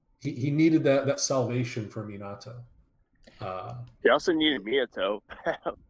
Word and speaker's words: Minato: It's just the way you pronounce Minato is what threw me off. I heard Hinata, like. Okay. Yeah, I heard it too. But again, I think I get why it's Minato. It's Minato.